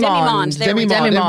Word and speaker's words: demimonde: We looked up the pronunciation. Demimonde.